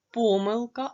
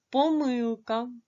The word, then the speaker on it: помилка: їх наголос читання завдання помилка або помилка Як бачите Останнє слово може мати два наголоси і це є правильним якщо Ми змінимо це слово на помилки то в нас буде інше наголос який буде падати на останній склад помилки перепишіть будь ласка ці